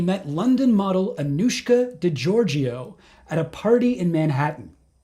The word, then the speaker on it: Georgiou: That's how you pronounce her name, by the way, Georgiou. Did you know that? I've never been sure, no. I've always been saying Georgiou, but I've heard her say it, Georgiou.